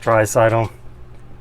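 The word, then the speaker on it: Draisaitl: now that's the that's how it's spelled it's pronounced tricidal we would joke at the show last year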